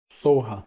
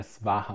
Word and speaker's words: soha: Em sânscrito é svaha, mas em tibetano a gente fala soha. Soha. Então, o que, que a gente faz? A gente pode fazer um mantra. Om Tare Tutare Ture Soha, Om Tare Tutare Ture Soha.